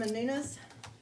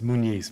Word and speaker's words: Munise: our first Speaker tonight is manun it's munise but thank you okay